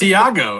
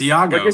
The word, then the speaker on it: Iago: I don't even know how to pronounce it. That's why I said the guy. It's Iago. It's Iago.